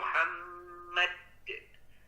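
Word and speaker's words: مُحَمَّد: Muhammad, mad. Nah, itu hati-hati. Itu kalau huruf dalnya bertasydid baru betul bacanya. Muhammad. Ada tahanan.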